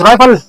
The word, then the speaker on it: rival: The next word is rival. Rival ये इस तरह प्रोनाउंस होता है जैसे कि बी है, वी। Okay, rival.